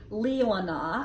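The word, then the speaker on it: Leelanau: had been saying wrong it's actually Lea wanna I think from her phonetic spelling so sorry to all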